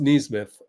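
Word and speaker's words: Nesmith: It's pronounced Neesmith. I looked it up.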